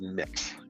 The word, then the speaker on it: Mx.: It's pronounced mix, MX.